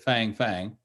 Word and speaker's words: Fang: It's F-A-N-G, so we would probably pronounce it Fang Fang.